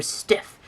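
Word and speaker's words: Steiff: me Stif, Stif, or Stiff, as long as you like our stuffed animals. It is okay with me. Editor's note, the correct pronunciation is phonetically Stif.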